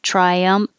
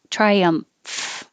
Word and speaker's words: triumph: um triumph try um that mf combination is unusual and and kind of weird so once your lips are closed for the m triumph then you open the top lip with your top teeth on your bottom lip and let air flow through triumph triumph and the